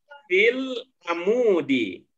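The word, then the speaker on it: في العمود: Jika cara membacanya menjadi amudi. Amudi. Di pertama maupun yang kedua itu cara bacanya sama, yaitu fil amudi. Ya, cara bacanya fil amudi.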